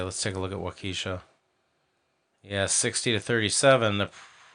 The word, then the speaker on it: Waukesha: uh waukesha i i'm getting text messages correcting my pronunciation of wakisha it's uh waukesha um sorry about that